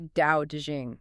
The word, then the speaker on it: Tao Te Ching: So Tao to Ching is really Dao to Jing in the modern pinyin system. Good to know. Tao Te Ching.